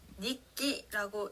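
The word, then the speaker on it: 日記: 예를 들어서 일본어 단어 일기를 읽을 때는요, 니끼라고 읽는데요.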